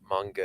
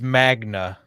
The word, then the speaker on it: Magna: vehicles guns and stuff it's it's it's Magna Mna Magna Magnus yes so it's the not manga it's not a Japanese uh